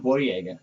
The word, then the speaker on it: Boyega: want to correct something john boyega is how you pronounce uh this has